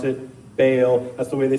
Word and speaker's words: Baal: that word is pronounced Baal, which is a little more accurate to the way they would have said it back then, and it's a lot more fun to say, frankly.